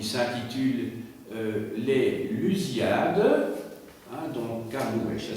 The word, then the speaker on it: Camões: C'est le grand auteur portugais qui s'appelle Camões et qui a écrit un livre qui s'intitule Les Lusíadas, hein, donc Camões, ça s'écrit C-A-M-O-E-N-S, Camões, et les Lusíadas, en fait, c'est tiré de son propre prénom, il s'appelle Luís.